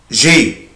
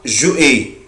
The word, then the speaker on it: j'ai: أحفظهم هو كده avoir j'ai. بس كده اسمها j'ai. في ناس بتنطقها جو اي، طبعا غلط جدا، مفيش حاجة اسمها جو اي. أنا الأبوستروف ده ولا يكون موجود، أنا بنطق الفيرب على بعضه.